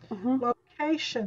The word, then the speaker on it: location: Location, that's the second syllable.